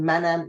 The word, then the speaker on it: منم: And in spoken, often you drop the he in pronunciation, saying manam Iranian.